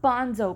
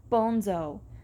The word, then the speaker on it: Bonzo: "Not Bonzo, pisshead. Bonzo. The name's Spanish.